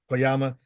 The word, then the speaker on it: Koyama: you as sergeant Tyson uh how do you pronounce the last name cooma kyama kyama yeah what was the description you were given